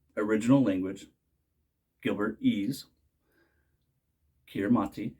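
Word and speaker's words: Kiritimati: original language Gilbert ease kiramati is pronounced Christmas so kiramati island is Christmas Island not to be mistaken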